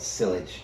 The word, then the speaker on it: sillage: It's spelled sillage, but sillage.